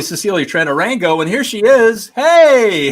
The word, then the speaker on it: Cecilia Tran Orango: But I think it's Cecilia Tran Orango. I told her I was going to mispronounce her name. It's actually Cecilia Tran Orango, and here she is.